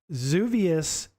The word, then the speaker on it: Xevious: Adrian saying pronounced Zuvius, technically, LOL. So I actually looked up the pronunciation on this because it is like one of those words, Xevious. You wouldn't really know how to say it. Most people wouldn't. So I looked it up, and it did say Xevious. I've heard of other people say it as well.